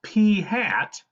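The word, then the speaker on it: p̂: top of it and that's pronounced P hat because it's like P is wearing a hat yes that's that's really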